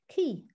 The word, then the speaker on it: ci: you that the welsh word for dog is key pronounced key and that's an example of how that